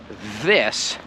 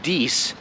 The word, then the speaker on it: this: unable or unwilling to try to say this instead of dece or if you're going to continue pronouncing i like e instead of i write this